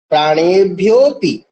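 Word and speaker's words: प्राणेभ्योऽपि: प्राणेभ्यो अपि, अपि नहीं, प्राणेभ्योपि, ठीक है। अ का उच्चारण नहीं किया जाता है, क्योंकि अ अवग्रह चिन्ह है, ठीक है।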